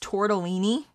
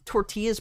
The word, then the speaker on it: tortellini: and you shouldn't it's pronounced tortellini did you just say tortillas pronounced tortellini there's a two very different things you're kind of